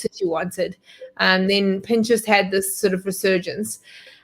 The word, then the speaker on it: Pinterest: Yeah, it's lots of people add that extra kind of I, but it's actually just Pinterest.